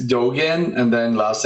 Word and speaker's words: Dogan: Yeah, it's Dogen.